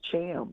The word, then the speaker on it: Thiam: people it's uh it's help them understand how to pronounce my last name it's pronounced Cham can you leave it